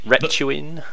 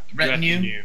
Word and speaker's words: retinue: Retuin? How do you say that word? Yeah. Retinue.